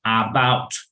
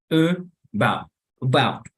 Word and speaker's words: about: Pero notan que no hay una A al inicio. ¿Qué hay en lugar de la A? Es como una E, pero baja. Exacto, es una E que se pronuncia quedito, ¿vale? Se llama schwa, ese fonema.